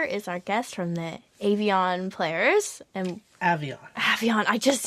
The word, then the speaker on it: Avion Players: Avalon, not Avon. Yeah. So it's Avion Players, and I asked them because I wasn't sure either. So even though I hear people say it, I wasn't sure that they were saying it right. But he says Avion, and he's the guy,